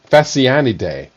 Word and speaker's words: Phasianidae: Phasianidae. Phasianidae. Phasianidae. I believe that's pronounced with a PH as an F, which is that's Greek